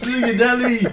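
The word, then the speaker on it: Llanelli: 166 leonelli is that is that leonell Messi leonelli that's we pronounce it it's leonelli the rich written Lei anyway moving on moving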